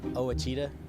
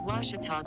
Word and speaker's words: Ouachita: were at ouachita i've heard people say oh a cheetah oh wish tall oh a cheetah is it pronounced oh aikida searching for washi at a baptist university back in texas everybody pronounces it wichita but really it's ouachita washington how would you